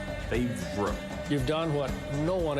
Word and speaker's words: Favre: old it is f a v r it's favor favor you've done what no one else no one